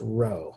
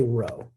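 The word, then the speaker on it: ρ: italic small p um so yeah but it's pronounced row let's try this one more time maybe that's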